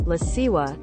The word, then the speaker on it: LaCroix: But she also pronounces LaCroix as La Siwa, and croissant as Siwasan. Phonetically butchered. I know. Despite these technically being how they should be pronounced.